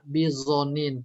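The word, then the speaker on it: بظنين: Wa quri'a, ada juga yang baca bizonin pakai zo.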